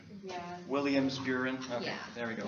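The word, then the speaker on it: Williams-Beuren: WBS, which is Welch-Buren syndrome, if I'm pronouncing that right. Yeah, Williams-Buren.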